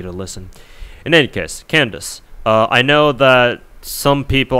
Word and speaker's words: Candace: some people were like, why are you pronouncing your name Candace? It's supposed to be Can-da-se or whatever, it's like 3 syllables.